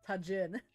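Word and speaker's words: Tajín: right I think when you say it fast it shifts more I just Spanish got attention Tajin Tajin Tajin my God I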